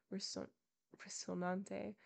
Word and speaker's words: Rocinante: quitting the lazy down, mounted his celebrated steed, Rocinante, and began to traverse the ancient and famous Campo de Montiel, which, in fact, he was actually traversing.